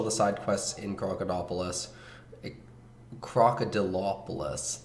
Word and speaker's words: Crocodilopolis: Crocodilopolis. There's an extra syllable in there, and I never say it. And I'm aware I'm a terrible person for never saying it.